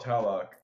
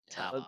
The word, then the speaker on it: Tlaloc: call it Talok. Talok. Let's call it Tlaloc. Just ignore the L. Yeah. Okay. Oh, just ignore all the L's.